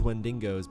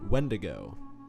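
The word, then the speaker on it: Wendigo: was okay killing these wendingos because oh when to go is that how it's said i've been calling them wendingos well don't i feel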